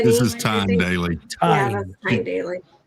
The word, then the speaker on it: Tyne: Spell that first name you keep saying. T Y N E This is Tyne Daly.